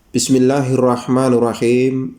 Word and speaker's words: Bismillahirrahmanirrahim: Bacanya yang pertama seperti ini. Bismillahirrahmanirrahim. Di mana bacaan dari kita ini yang sering salah. Yang pertama, antara sin dan mim ini biasanya ini dimasuki huruf E ya.